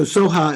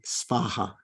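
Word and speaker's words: svāhā: that's probably good advice okay so Soha is fine unless you're on the you know on the completion stage of highest yoga Tantra Diana and your uh at that point probably you should say spaha but by that time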